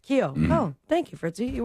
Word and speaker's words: Keough: Keough.